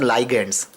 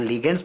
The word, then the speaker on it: ligand: बहुत लोग बोलेंगे नहीं सर प्रोनाउंसिएशन रॉन्ग कर रहे, इट्स नोन एज लाइगेंड्स। आप लिगेंड्स बोलिए या लाइगेंड्स बोलिए, एग्जाम में प्लीज स्पेलिंग करेक्ट लिखिएगा, ठीक है?